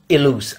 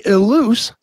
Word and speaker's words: Ilous: last name but no my real name is elus i l o u s all right well I promise I'm never gonna say it wrong again so one more time it is eluz got it uh the